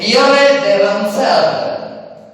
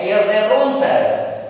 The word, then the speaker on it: Pierre de Ronsard: He is Pierre de Ronsard. Pierre de Ronsard. French ನಲ್ಲಿ ಸಾಮಾನ್ಯವಾಗಿ ಡಿ ಮತ್ತು ಡಿ ಹೆಚ್ಚು ಉಚ್ಚಾರ ಆಗೋದಿಲ್ಲ.